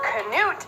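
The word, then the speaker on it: Knute: Notre Dame playing when canoe Rockne told them to win one for the Gipper Michigan Michigan State were army yes Canute is the Norwegian and proper pronunciation George Gipp was Notre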